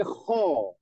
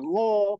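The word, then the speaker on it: خ: KH khi khu ak jadi koho ya bukan bukan goho kalau gho itu hurufnya Gin ya jadi bacanya Wana KH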